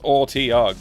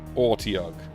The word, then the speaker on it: Otyugh: Otyugh. I don't know what that is, but it's got a cool name. Apparently it's Ortiug, is how you say it. Ortiug.